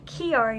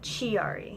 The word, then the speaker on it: Chiari: called an arnold-chiari malformation it is pronounced Kyary not GRE i'm not a chia pet and the awareness ribbon